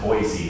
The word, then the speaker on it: Boise: And apparently it's pronounced Boise, not Boise, like I'm saying.